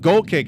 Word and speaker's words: Golqik: But Goal Kick is spelled Golqik. So it looks Inuit.